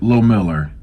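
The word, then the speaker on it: Lohmiller: Miller okay low Miller chip low Miller that's how you pronounce his name chip Lowe Miller okay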